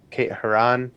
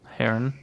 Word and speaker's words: Herron: Kate Herron. Kate Herron. Heron. Sorry. I would assume Heron because that's how the bird is spelled, or pronounced.